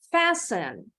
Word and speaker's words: fasten: Remember, the T is silent. So we pronounce the end of this word as sen. Bunyi akhirannya sen. Now, I want you to repeat after me. Kita sama-sama. Fasten.